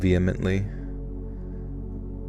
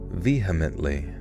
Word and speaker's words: vehemently: Can you pronounce the word vehemently? Veheimly. Vehemently. I think I kind of skipped the H a little bit.